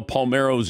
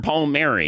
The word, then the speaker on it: Palmeiro: They didn't know how to pronounce Rafael Palmeiro's name. Mr. Palmieri. Mr. Palmieri.